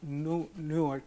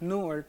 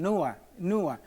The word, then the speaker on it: Newark: And he didn't know how to pronounce Newark, and he kept saying Nua, and that means naked in Spanish.